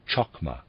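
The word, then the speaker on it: Chokmah: the right ear as it were was called chakma wisdom readers aside spelled c-h-o-k-m-a-h and it readers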